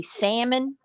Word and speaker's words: salmon: i heard somebody say salmon and i was like what is salmon you know fish i never heard of a salmon you never heard of silent letters salmon no so jean